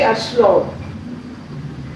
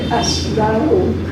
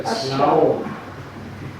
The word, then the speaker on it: Aslaug: So Aslaug, the name of the heroine, we used to say Aslaug. He said Aslaug. You have to pronounce the A also, Aslaug.